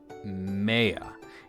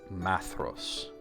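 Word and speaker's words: Maedhros: not Maya it's not Maya it's Ma actually not ma it's ma like it rhymes with cat hat ma now then we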